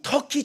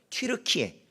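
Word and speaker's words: Türkiye: 영어식으로 하면 터키인데 이걸 약간 뭐 독일어식이든 다른 걸로 하면 튀르키예 이렇게 되는 것 같아요.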